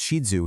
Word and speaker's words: Shih Tzu: The name Shih Tzu, which, by the way, is usually pronounced Shih Tzu here in the West, though you'll hear a few variations, literally translates to lion in Chinese.